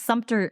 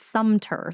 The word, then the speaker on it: Sumter: It's Sumter. It's Sumter. Like there's no P.